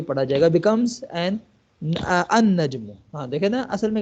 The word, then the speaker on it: النجم: letters شمسی letters کے ساتھ کیسے ملتے ہیں، النجم، ٹھیک ہے، النجم، یہاں پر بھی لام ال سائلنٹ ہو جائے گا، ال نہیں پڑھا جائے گا بلکہ اگلا جو حرف ہوگا وہی پڑھا جائے گا، بیکمز این النجم، ہاں دیکھیں نا اصل میں کیا تھا، النجم